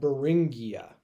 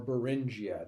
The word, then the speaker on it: Beringia: This land bridge is called Beringia or Beringia, depending on how you want to pronounce it. I've heard both.